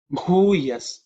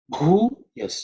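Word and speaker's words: भूयः: Bhuyas Chame. Bhuyas Chame. The letter Bhu is aspirated because it's the fourth letter in the Pa Varga. Okay, so it has to be pronounced with some extra air, Mahaprana.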